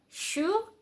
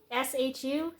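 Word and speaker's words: 鼠: This is actually a Chinese symbol for rat, pronounced in Chinese shu, S-H-U, so shu. And according to this little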